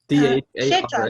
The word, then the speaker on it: Dharmakshetra: Dharmakshetra. How do you spell that last word? Kshetra, like Kurukshetra.